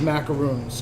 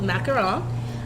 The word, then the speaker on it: macaron: the correct pronunciation I always pronounce it as macaroons it's not pronounced that you know what do they say